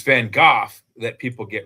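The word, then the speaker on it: Van Gogh: It's it's Van Gooff that people get wrong. It's it's spelled G O G H but it's pronounced like cough except with a G. So it's Van Go but everyone calls him Van Go or Van Go.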